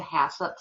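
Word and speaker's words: HACCP: one is hasso and some people chop that and and don't say it correctly but if you're not going to say the entire word which the entire sentence it's Hazard analysis critical control Point um it's shortened to hup for ease because it would get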